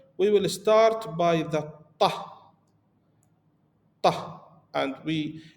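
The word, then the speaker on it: ط: We will start by the ta, ta, and it's higher pronunciation of T, so we not say ta, we see ta, ta. It's like bomb coming from the mouth.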